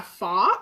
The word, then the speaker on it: pho: So this recipe is kind of a take on a pho, and that's the proper way to say it in Vietnamese.